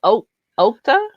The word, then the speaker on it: Okta: The first one pronounced Okta. OKTA.